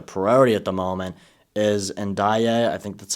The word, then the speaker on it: Ndiaye: winger, but the priority at the moment is Ndiaye.